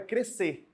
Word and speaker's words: crescer: essas músicas mas lembre-se correto é não pronunciar esse SC tem que sair um só som nós estamos estudando dígrafos